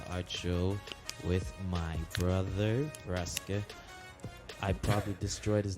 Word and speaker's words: Raksa: Yeah, I mean, my name's not very long, but it's pronounced Raksa. Raksa.